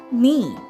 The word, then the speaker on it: knee: Now the second word we have is knee. It is spelled as K N E E. But when we pronounce it, it is said as N E.